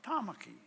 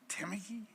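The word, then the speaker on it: Tāmaki: a dam I mean a simple name like Tamaki Oakland Tamaki it's not Tamaki I can forgive you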